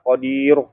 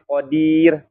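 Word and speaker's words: قادر: Ir ya Kir tuh atau khodir bukan Qadir ya Jadi bukan Qadir tapi Qodir Nah hati-hati ya Jadi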